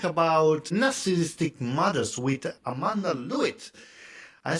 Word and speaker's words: Lovitt: So today we talk about narcissistic mothers with Amanda Lewitt I said correct do you your surname Amanda? Well it's an English name so it's a challenge they they pronounce it love it.